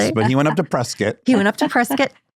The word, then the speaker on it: Prescott: Just Prescuit. Prescott. They say Prescuit, but it's spelled Prescott, right? But they say Prescuit. Prescuit like it's a biscuit.